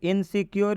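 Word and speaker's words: insecure: है clear next इनसिक्योर इनसिक्योर में यू है यू के बाद से क्या आया है आर ई तो जब यू के बाद आरई होता है इस यू का उच्चारण क्या होता है इस यू का उच्चारण यू होता है क्यों होता है क्योंकि सर अभी आपने रूल में बताया कि जब भी किसी वर्ड में यू के बाद से आर ई आता हो तो उस यू का उच्चारण यू हो जाएगा बहुत ही अच्छा आप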